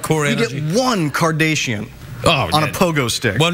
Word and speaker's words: Kardashian: Why are you saying Kardashian? How do you say it? It's Kardashian. You're like one of those newsreaders that says Nicaragua, like that. Right.